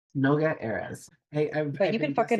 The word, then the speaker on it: Noga Erez: Anywho, so I really need to know before we do any of this, what is the proper pronunciation of your name? Noga Erez. Noga Erez.